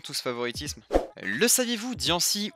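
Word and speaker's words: Diancie: ce favoritisme le saviez-vous dian 6 ou d'ailleurs aussi puisque c'est comme ça que ça se prononce et le seul pokémon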